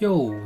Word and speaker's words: 又: 보니까 중국 발음으로는 요 이렇게 사성으로 내려가네요.